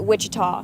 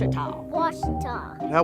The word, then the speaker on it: Ouachita: for wasid Baptist University back in Texas everybody pronounces it Witchita but really it's was was was how would you pronounce it was was it's was